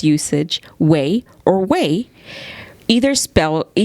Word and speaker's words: güey: So they have the Wikipedia meaning, which is way, usually misspelled, or way, pronounced like an English word of way, W-A-Y, is a word of